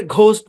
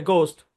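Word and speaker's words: ghost: এটা গোস্টোস্ট ভূত এটাকে অনেকে ঘোস্ট বলেন ঘয়ে বলেন কিন্তু অরজিনা ঘয়ে হবে গোস্ট তার গার্কিন তারপ এই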